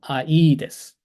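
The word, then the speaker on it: Ἀΐδης: 그래서 I라고 읽으면 안 되고, 아이데스, 아이데스. 이게 두 번째 음절에 악센트가 와서 분리가 된 거예요.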